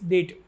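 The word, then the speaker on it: debt: Choose an option which can be substituted for the given sentence one हु is unable to पे हिज डेट। इसको डेट पढ़ा जाता है, इसमें B silent होता है, इसका मतलब होता है कर्ज।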